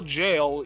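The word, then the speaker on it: gaol: donate for the cause remember to spell jail you spell it g-a-o-l yep actual factual i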